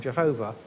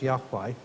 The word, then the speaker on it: Yahweh: You may be familiar with the version of that name, Jehovah, but probably the original way of pronouncing it is as Yahweh. But we're not even sure about that, because God said, oh,